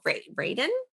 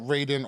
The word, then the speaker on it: Raiden: I was very happy when I saw Raiden. Okay. Raiden. Wait, hold on. Wait. No. Raiden is Metal Gear. Raiden is Mortal Kombat. It's both. It's pronounced both. Raiden and Raiden.